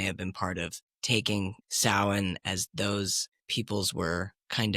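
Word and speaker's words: Samhain: traditions and pagan traditions and uh is it Sam Hayne or is that sin it's pronounced it's pronounced okay but it's spelled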